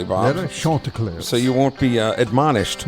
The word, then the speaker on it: Chanticleers: And you pronounced it correctly, Bob. Chanticleers.